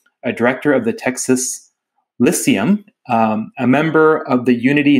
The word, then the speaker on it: Lyceum: You'll have to educate me on the pronunciation of Lyceum.